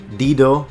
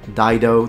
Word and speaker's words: Dido: Many of you will have heard the name Dido or Dido, depending how you want to pronounce it, meaning the name of the traditional, at least according to the legends, founder or princess of Carthage.